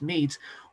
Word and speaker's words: Medes: mes and it's spelled medes but it's actually pronounced mes wanted to be strong and the mides built